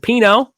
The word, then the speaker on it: pinot: fancy has arrived Ryan she says and Chris is drinking glass of pinot and the T is silent I've heard about that